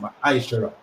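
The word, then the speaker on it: מעשר: Means 10 in the Hebrew, and it's pronounced Ma'aishara.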